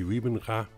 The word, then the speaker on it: Wybenga: let's talk about Gary ribbinga I know you English speaking People pronounces name by Origin and I like to pronounced to Dutch Way so Gary rybenga and is a cute